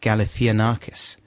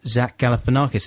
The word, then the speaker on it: Galifianakis: and i extremely confidently said no no it's pronounced galifianakis and uh there was a few messages from people saying saying that you were rongo snodgrass lloyd it's pronounced zach galifianakis and i found a guy on youtube who